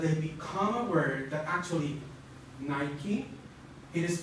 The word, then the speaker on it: Nike: So Nike, because of course you have nice, let's change the K for a C, nice, and with overgeneralization, you would say Nike.